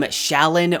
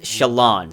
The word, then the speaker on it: Shallan: Side note, I always pronounced her name Shallan or Shallan, but according to Sanderson and the audiobook, her name is pronounced Shallan, so I'll stick with that.